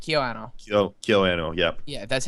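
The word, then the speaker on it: KyoAni: KyoAnno, yeah.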